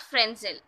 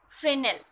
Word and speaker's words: Fresnel: Hello everyone, today we are going to discuss Fresnel diffraction. And I have to clear you the pronunciation of this word. It is actually not Fresnel, it is Fresnel. The S is silent, so it is called Fresnel diffraction.